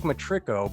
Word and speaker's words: Matirko: And this is my favorite part, is where I say it's Matirko, but then I always second guess myself and say, did I say his name right?